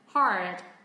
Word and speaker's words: hard: Còn từ này cũng tương tự, nó giống hầu hết tất cả các cái nguyên âm và phụ âm, nó chỉ khác một cái ending sound thôi. Hard.